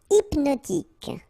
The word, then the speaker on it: hypnotique: Hypnotique. Remember, at the end, Q-E, K, tic. So H is not pronounced.